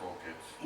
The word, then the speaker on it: AuKids: It's pronounced AuKids.